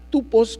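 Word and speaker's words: τύπος: Si nosotros vemos la palabra en el griego que se traduce como tipo, es una palabra tupos, que se pronuncia así, y significa ejemplo, figura, forma, lugar, modelo o señal.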